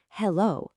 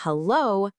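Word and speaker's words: Hallo: It's not hello like in English. You got to give it a nice open a sound at the beginning. So, it's hello.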